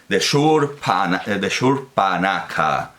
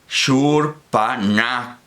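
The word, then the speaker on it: Śūrpaṇakhā: védico clásico, dice que se pronuncia con la lengua plana, sería como la misma S con...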